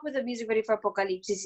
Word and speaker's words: Apocalipsis: And it's literally stuck in my head, Apocalipsis.